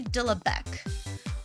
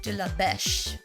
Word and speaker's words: de la Beche: So this controversy starts with this guy, Henry de la Bec, or de la Beche is probably more correct, but he's English, so he probably pronounces his name wrong.